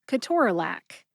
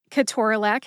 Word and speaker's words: ketorolac: correct way, which is ketorolac. Ketorolac has 4 syllables. I prefer to say ketorolac, and then I pronounce the syllables this way. Ke, like the children's toy connects, or the word connect.